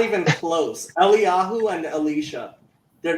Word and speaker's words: Eliyahu: Eliyahu and Elisha.